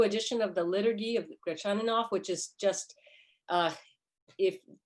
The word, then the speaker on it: Gretchaninov: because Gretchaninov himself wrote in his autobiography, "The way to pronounce my name is Gretchaninov," and so they must have been mispronouncing it back in his lifetime.